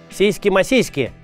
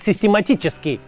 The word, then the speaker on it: систематически: Сейски масейски так Брежнев произносят систематически.